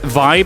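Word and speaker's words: VÆB: Uh Vibe is pronounced as Vibe as in well Vibe.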